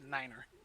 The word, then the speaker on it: nine: six seven eight and you say nine as niner and it's done that